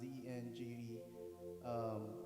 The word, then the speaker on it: dengue: i guess um i got this disease called dengue it's pronounced dng and it affects a lot of people like